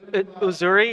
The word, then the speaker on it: Uzuri: Uzuri. It's spelled Uzuri.